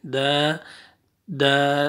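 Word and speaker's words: ضاد: दौद left side से जो पांच ऊपर वाली जो दाढ़ें हैं वहाँ पे आपने ज़बान की साइड आपने लगानी है, दौद दौद दौद।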